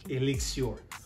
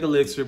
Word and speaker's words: Elixir: And when you pronounce this, it looks like elixir, but they want you to say Elixir. So, Sauvage Elixir.